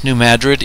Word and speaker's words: New Madrid: Yes, New Madrid is the correct way to say it.